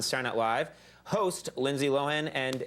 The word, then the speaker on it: Lohan: Host Lindsay Lohan, and am I saying it right? Lohan? I think she says Lohan. Well, I say Lohan.